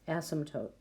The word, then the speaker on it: asymptote: of our essential questions asymptote it's pronounced with a silent P and an asymptote is a line that